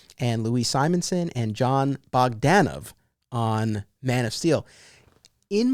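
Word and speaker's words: Bogdanove: he introduced himself and it's john bogdanov that's how the man says his name you learn something new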